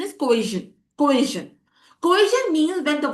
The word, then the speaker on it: coercion: You'll if you so the correct pronunciation is coision.